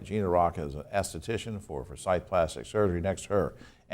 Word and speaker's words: esthetician: What is an esthetician, and did I pronounce it correctly?